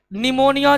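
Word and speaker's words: pneumonia: बार देख लेते हैं निमोनिया जिसके नाम में पी साइलेंट रता है यह दो प्रकार के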